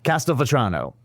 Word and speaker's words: Castelvetrano: Yeah, I can't pronounce this, but it was the first olive that you said. Castelvetrano.